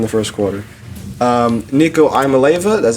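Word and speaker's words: Iamaleava: Nico Imaleva, that's how you say it, the Tennessee quarterback, he went 14 for 31 for 104 yards, no picks, no tutties.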